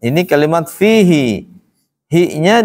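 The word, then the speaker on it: فيه: yang di sini ini satu-satunya kalimat fihi dibaca panjang dalam al-qur'an cuma satu saja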